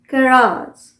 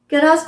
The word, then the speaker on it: garage: GARAGE, कैराज। कैराज। कैराज कौन सा pronunciation हुआ, अमेरिकन प्रोनाउंसिएशन। हम क्या बोलते हैं, कैरेज। कैरेज। कैरेज British pronunciation, कैराज ये हुआ अमेरिकन प्रोनाउंसिएशन।